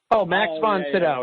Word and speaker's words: Max von Sydow: Max von Sydow, yes.